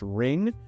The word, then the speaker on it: RNG: And RNG, which is pronounced ring, is any kind of random chance in a deck or a game.